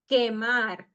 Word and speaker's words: quemar: Quemar. U is silent because has the Q before. So quemar. Doxología.